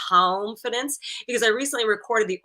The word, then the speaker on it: calmfidence: And I say it like calmfidence because I recently recorded the audio version of the book.